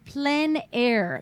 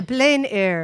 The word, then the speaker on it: plein air: the term comes from the French which you thought of on plenary meaning in the open air so I didn't say it right no I did the plein air on plein air the